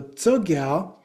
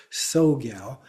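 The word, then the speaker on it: Tsogyal: So Toggal um is spelled with a T S T SO G- A Y L. And so it is sometimes pronounced as if that T doesn't exist, just soal. But that T is combined together. So it's a toga. It's not ta. It's a combination of the so.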